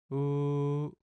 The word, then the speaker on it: 우: 우, U. You can remember this pronunciation by thinking of the small stroke being under the large stroke.